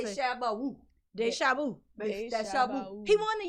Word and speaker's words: DeChambeau: DeChambeau. How do you pronounce it? DeChambeau.